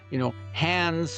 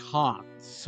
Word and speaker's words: Hans: like that and would say it the way we say it in English, Hans without the D. but it should be more like Hans, right?